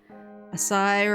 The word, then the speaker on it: Asai: Asai rhymes with acai.